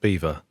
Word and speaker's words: Belvoir: So it's spelt Belvoir, but it's pronounced Beaver.